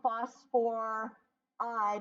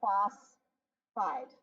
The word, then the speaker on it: phosphide: if we have phosphorus it does not become phosphor eyed it's just the first syllable phosphide hydrogen does not become